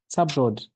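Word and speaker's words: Sabouraud: SDA is I get that pronunciation wrong. Sub what? Subrod, dextrose agar.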